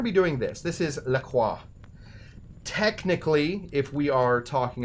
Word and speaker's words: La Croix: It should be lacrosse. Lacrosse. That's how the Wisconsin people say it. Now, I will always call this LaCroix, because first of all,